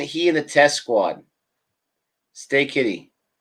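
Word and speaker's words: Steketee: in the test squad stay kitty stay kitty that's how you say his name stay kitty doesn't stick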